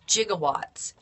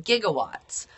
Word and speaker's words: gigawatts: However, as we know now, we don't pronounce gigawatts that way anymore. We pronounce them gigawatts. So just like we have gigabytes, we don't say gigabytes, we say gigabytes.